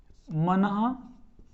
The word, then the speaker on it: मनः: मनो, मना है ना, मनः, इसको उच्चारण शुद्ध करना है, मनः, ये मन ह नहीं है। हमने ऐसा नहीं करना है कि विसर्ग को हम अलग से बोलें, मन ह, ऐसे नहीं, मनः, तेजः, पूरः, सरः, इस